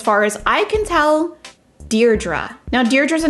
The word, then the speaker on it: Deirdre: she's deirdre so um i have also learned that if you live in the uk you may pronounce this name deardree that i've never heard that before but that was said to me in the comments so in the uk i've heard it deirdre and in the us